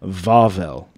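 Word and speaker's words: Βαβέλ: who speaks Greek then they'd probably pronounce something along the lines of vavel V instead of B and that's actually quite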